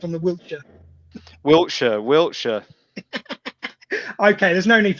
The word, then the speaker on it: Wiltshire: going to start with it's Wiltshire. You're speaking to an Englishman now. You got to get it right. Wiltshire. We don't overpronounce that stuff. Wiltshire. Come on, you're rubbing too much sauce on it there.